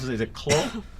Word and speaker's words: Clough: I always mispronounce it. Is it Clough? It's Clough.